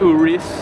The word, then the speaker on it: Urus: Lamborghini Urus is how it's pronounced.